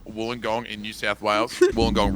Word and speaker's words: Wollongong: in new south wales wollongong rhymes with one of the major utensils they used to have fun back in the day uh down there